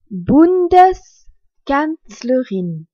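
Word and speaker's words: Bundeskanzlerin: Bundes canlerine c'est la chancelière de la Fédération Bundes canlerurine Bundes s'écrit B u n d e s canlerine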